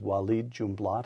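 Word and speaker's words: Walid Jumblatt: book you recount a discussion you had with wed jumat am I pronouncing that correctly you are Yes W junblat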